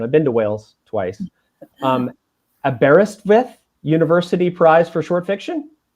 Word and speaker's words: Aberystwyth: and correct me if I'm wrong on this pronunciation, I've been to Wales twice, Aberystwyth University Prize for Short Fiction? Yeah, Aberystwyth.